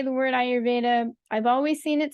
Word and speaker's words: Ayurveda: And the word Ayurveda actually is spelled with a long A. And when you hear me pronounce it, Ayurveda, you can almost hear 2 beats, 1 beat, 2 beats, 1 beat.